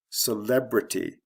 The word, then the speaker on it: celebrity: Celebrity, again from the first to second syllable.